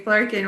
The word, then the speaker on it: Flurkin: I keep hearing Flurkin rhymes with Birkin from the Trolls.